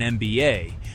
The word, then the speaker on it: MBA: We also say an MBA because the letter M is pronounced M, starting with a vowel sound.